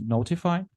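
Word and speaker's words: ntfy: tool called and TFI which I think it's pronounced notify and for the last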